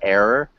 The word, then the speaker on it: error: And then it sounded like you had the Portuguese R. So just remember error.